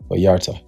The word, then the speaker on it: Vallarta: Vallarta.